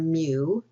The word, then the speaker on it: mu: The mean for a population is identified by the Greek letter mu, (pronounced 'mew'), and the mean for a sample is identified by a capitol letter M or X-bar (read 'x-bar').